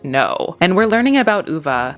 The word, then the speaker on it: Ove: First off, I learned that I'm saying his name wrong. It's UVA, a man called Uva.